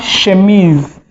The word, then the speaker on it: chemise: We also have chemise. This is a word that has been borrowed from French, so it is chemise. I'm almost saying in French. In French, it is called what? Chemise. So we just say chemise, borrowed directly from French.